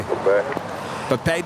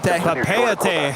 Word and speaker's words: Papeete: But then I did some research, and apparently you do emphasize the second E in Papeete.